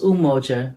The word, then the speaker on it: Umoja: One of Kwanzaa is Umoja, pronounced Umoja, meaning unity.